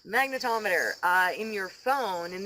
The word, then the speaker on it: magnetometer: or something magnetometer yes not a magnometer magnetometer uh in your phone